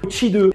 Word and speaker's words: Qi2: Ce qui me fait un peu rêver aussi, c'est l'arrivée de la charge sans fil à l'alarme CHI2. Ça s'écrit QI2 mais ça se prononce qui devrait permettre une recharge sans fil jusqu'à 25 W.